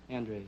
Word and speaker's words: Andres: the way you pronounce it? Andres, yes.